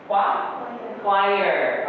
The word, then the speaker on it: choir: Cara bacanya? Choir.